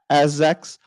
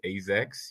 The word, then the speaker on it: AZEX: intern on behalf of hopefully I'm pronouncing Azek's. How are you doing today? GM, everyone. I'm happy, really happy to be here. And by the way, it's AZEX. You can call it AZ Exchange, but yeah, AZEX.